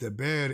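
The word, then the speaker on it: דבר: Sometimes the Hebrew word dabar, pronounced daber, is used instead of memra, which also means word, as well as matter, thing, and issue.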